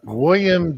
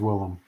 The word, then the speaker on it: Willem: go The Heist with William Defoe Wilhelm the I always mispronounce his name is William I don't know him it is Willem Willem Dafoe Nemo high in our